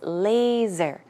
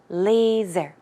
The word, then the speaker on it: laser: is pronounced with a Z sound so it's laser laser okay and also droplet and